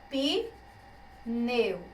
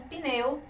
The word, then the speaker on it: pneu: Algumas pessoas poderiam dizer que a separação seria pneu. Como isso pode acontecer? Impossível. A gente não pode formar sílaba na língua portuguesa com apenas uma consoante. A gente precisa ter vogal para que haja uma sílaba. Então, pneu é uma palavra monossílaba, tá bom?